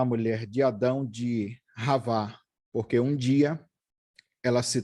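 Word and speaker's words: חַוָּה: Se você vê aí que está escrito Shavá, como se fosse o C cedilha, o X, mas a pronúncia é com R.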